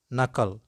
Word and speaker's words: knuckle: the words which commence with cairn then k is not pronounced let's go with